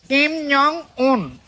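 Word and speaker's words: 김정은: উত্তর কোরিয়ার president Kim Jong উন। কিম জং উন, ওটার উচ্চারণ হবে এরকম, কিম জং উন, কিম জং উন।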